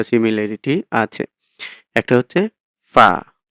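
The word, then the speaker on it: ف: খেয়াল করেন এখান থেকে ফার উচ্চারণ কি হবে এই যে ছবিটা দেখে এরকম ভাবে চেষ্টা করবেন যে নিচের ঠোঁটের পেট নিচের ঠোঁটের পেট সামনের উপরের দুই দাঁতের আগার সঙ্গে লাগিয়ে উচ্চারণ হবে ফা ফা ফা ফা এরকম ফা ফা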